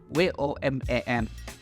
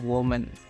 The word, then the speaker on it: women: Nah, kalau tulisannya woman itu bacanya woman, artinya satu wanita. Kalau misalkan lebih dari satu wanita tulisannya WOMEN, yang bacaannya women, bukan woman, oke?